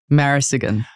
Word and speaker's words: Marasigan: pronounce the last name marisigan I get that a lot people are like how do you pronounce your name but if you literally read it how it is again then it should